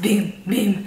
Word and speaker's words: Bum Bum: You know, it's like it says Bum Bum, but on their website, I do believe that they mention it's pronounced Boom Boom.